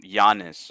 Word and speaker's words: Giannis: of names like um Giannis or whatever right but it's spelled with a G yeah yeah but it's pronounced like with a Y and so in North